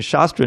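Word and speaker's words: शस्त्र: important you know all the only thing between shastra and shuster is a little mark on top of the a which makes it a long a instead of a short a so shastra is a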